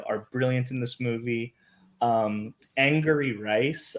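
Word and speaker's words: Angourie Rice: Angry Rice, I believe is how you pronounce her name.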